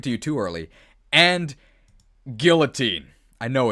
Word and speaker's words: Guillotine: I also pronounced it Guillotine as a kid but it's definitely it's that like the actual pronunciation is Guillotine right because it's like French oh yeah I guess